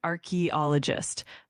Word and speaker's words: archaeologist: So, it's archaeologist. Um, just keep those syllables smooth and clear and you'll nail it. The emphasis is actually on the second syllable. So, it's archaeologist.